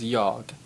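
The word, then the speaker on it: jag: you already know I which is yogg or sometimes they leave the G on the end off I think kind of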